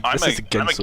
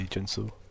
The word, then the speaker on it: Ginso: This is a Ginso tree. tree. Yeah, this is a Ginso. Yeah. There's some weird people that say Jinso. Yeah, I don't know about that. It's spelled with a G, so.